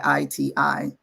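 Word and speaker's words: Ayiti: And for Haiti, you'll hear most people say Haiti, Ayti, is like phonetically how you would So it spell would it.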